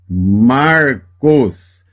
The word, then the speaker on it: Marcos: O nome próprio Marcos. Repara que aqui eu tenho um Shevá que está apenas pontuando que aqui existe uma consoante sem vogal. Ele não é pronunciado neste caso. Lê só o som do Reish, o R.